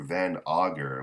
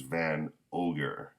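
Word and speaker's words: Van Augur: i called the sniper van auger which is what i always thought his name was but here it says his name is van ogger um so yeah so i guess that's how you pronounce his name uh oh yes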